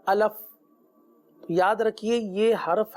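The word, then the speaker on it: ألف: करना बहुत जरूरी है अगर हम इसकी हिज्जे करें आपने देखा कि यहां पर अलिफ के साथ जो है यह छोटा सा आपने यह जो दायरे के अंदर बना हुआ है इसकी हिज्जे तो अगर आप इसकी हिज्जे करें हमजा जबर आ लाम फा जेर लिफ क्या बन गया अलिफ अब देखिए पढ़ना बहुत आसान है लेकिन अगर तवज्जो ना हुई तो बाज औकात अलफ अलिफ अलीफ इस तरह के रूफ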